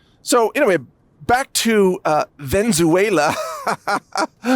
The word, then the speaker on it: Venezuela: and maybe they would learn how to pronounce the country name correctly because it is of course Venezuela.